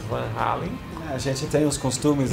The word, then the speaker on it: Van Halen: Que é a minha pronúncia Dutch. É, exatamente, Van Halen. Van Halen, mas como eu tenho um amigo que é holandês, então eu falo em holandês, né? Van Halen.